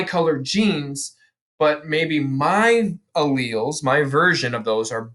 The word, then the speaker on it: allele: the day is allele allele that's how you say this word it's not a lili not allele a leo only two syllables a rhyme is with jaleel if you know anybody